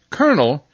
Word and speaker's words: colonel: going to say that Colonel is where I oddly enough make the are sound see Oh l-o-l is pronounced colonel well I think you